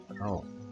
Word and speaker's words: rho: Kalau ini bacanya rho.